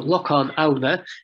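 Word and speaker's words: Lochán: So Lochan Aona, pronounced locally Lochan Aona, Lochan Aona, with the emphasis on the second syllable.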